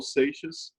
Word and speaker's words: Seixas: How do you spell that? It's Raul. Oh, Raul. Yep. Raul, R-A-U-L. Yep. Seixas is S-E-I-X-A-S.